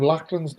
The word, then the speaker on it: Lachlan: Ian, your pronunciation of Lachlan's name is doing my head in. Pretend you're a Scotsman and simply say Lachlan.